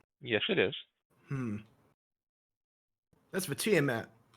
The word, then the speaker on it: Tiamat: Because you see, that temple isn't for to mate. Yes, it is. That's for Tiamat. It's pronounced tomate, but the confusion is understandable.